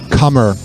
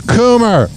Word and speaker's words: Coomer: His name is, but it's not Cummer. I said it wrong. I've been saying it wrong this whole time. His last name is Coomer. Said, Hoppe, you're killing me. My last name is pronounced Coomer, not Cummer.